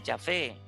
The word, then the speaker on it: Yahvé: hace pensar en efecto en la pronunciación de yahvé el texto bíblico también